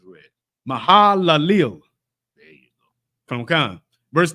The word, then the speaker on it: Mahalalel: Just say it the way it's read. This is English now. Come. Don't try to pronounce it in Hebrew. Yeah, in English, just the way it's read. Mahalalel.